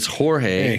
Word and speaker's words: Jorge: It's spelled Jorge. It's like almost Jorge. George. It's Jorge, hey.